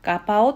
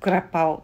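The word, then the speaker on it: กะเพรา: 耳にはほとんどバイガッパオに聞こえますし、ガパオと発音しても通じます。ちなみにタイ人がグラッパオと言ったり書いた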